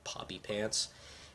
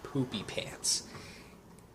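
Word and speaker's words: Poopypants: And I'm going to admit, as a kid reading the books, I mispronounced it a lot. I always thought it was Professor Poppy Pants. It's actually pronounced Professor Poopy Pants.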